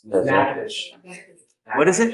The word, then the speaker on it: Natchitoches: I butchered the pronunciation, but Natchitoches. Natchitoches. What is it? Natchitoches.